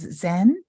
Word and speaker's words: Zen: we pronounce often as Zen so that's the Japanese way of pronouncing mindfulness Chinese ways Chen Korean